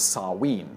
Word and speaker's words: Samhain: Halloween Originally, Halloween was a Celtic festival known as Samhain (pronounced “sah-ween”), meaning “summer’s end.”